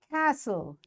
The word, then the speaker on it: castle: Castle. T is silent.